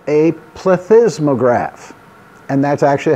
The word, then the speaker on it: plethysmograph: can record that using a device called a plethysmograph and that's actually how you say it this is a plethysmograph many of you have probably seen a plethysmograph